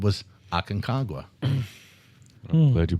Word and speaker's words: Aconcagua: outside of Asia, which we just said was Aconcagua? I'm glad you pronounced that right.